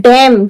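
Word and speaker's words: damn: एम है, एन, एम के बाद क्या है, एन, तो इसे पढ़ रहे हैं डैम। क्या पढ़ रहे हैं, डैम। एम को नहीं पढ़ रहे, लिखा तो रहेगा लेकिन हम पढ़ेंगे नहीं, इसे बोलते हैं साइलेंट लेटर।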